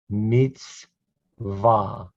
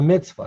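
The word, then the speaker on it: מצוה: hi just a regular o sound high yum mitzvah that's a mitzvah that's the hebrew word mitzvah now you know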